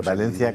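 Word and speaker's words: València: montón de gente en pone, por cierto, un acento en la E. Sí, sí, pero yo lo digo Valencia con acento y aparece un montón de gente en bici.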